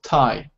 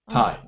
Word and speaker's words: Thai: word here we pronounce thai thai so the h is silent the h is sign